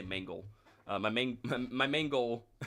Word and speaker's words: Mangle: I meant to say Mangle. Mangle. Not mango.